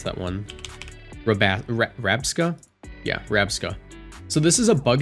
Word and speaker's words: Rabsca: Rabscara, I believe that's how you pronounce that one. Rabska? Yeah, Rabska.